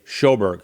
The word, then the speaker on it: Sjoberg: His name is Roy Schoberg. And I'm I'm using the American pronunciation.